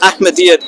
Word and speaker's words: Ahmadiyya: So that's what the real meaning of Ahmadiyyat is. And it's only a temporary name until we become like the main form of Islam. What's the correct pronunciation? Ahmadiyya. Ahmadiyyat, yeah, Ahmadiyyat, yeah.